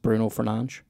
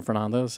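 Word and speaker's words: Bruno Fernandes: pronounced and his name is meant to be pronounced Bruno fernan right so that but everyone calls him Fernandez and if you were to start calling him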